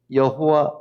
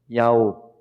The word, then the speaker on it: 야오: 여호와 아니고요. 야회 아니고요. 야오. 야오가 원래 발음하고 가깝다고 합니다. 야오. 야오. 산에 올라가서 스트레스 풀 때 소리지는 거 같이.